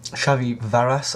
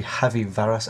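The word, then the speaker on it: Javi Varas: Goen we've got um shvy varas I think that's how it's pronounced J in Spanish is an H so it should be heavy varas actually my bad um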